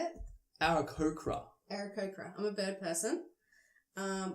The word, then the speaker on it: Aarakocra: Aarakocra.